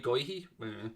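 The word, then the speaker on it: Guéhi: anderson got uh going i thought how you pronounce that g-u-e-h-y goyhee mitchell galahar who's on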